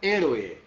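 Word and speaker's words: héroe: que é ele ué vocês vejam que eu estou pronunciando a palavra né heroe olha aqui ó e o olho é separados e aqui a separação e até é pelo som herói onde é que tá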